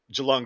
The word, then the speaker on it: Geelong: Is that actually a Geelong? Am I saying it wrong? No, it's a G. Geelong?